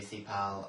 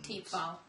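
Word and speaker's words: Thiepval: Yeah, and then I do Thipal and... Teepval.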